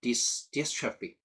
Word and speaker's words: dystrophy: DYS, read DIS, dystrophy. Here, dystrophy. Actually, dys means not good. Trophy, ostrophy, STR-strophy means some kind of nutrition or nourishment. So here, dystrophy means lack of nutrition or poor nourishment of tissue, right?